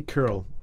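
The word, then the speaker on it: Kirill: Pope Francis and patriarch Kiril or Cyril I never know how to pronounce that you don't say well people say curl and French we say Cyril Cyril yeah he's the primate of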